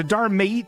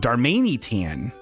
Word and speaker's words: Darmanitan: So Darmate, is that how you say it? Why am I not able to read this word? Darmanitan.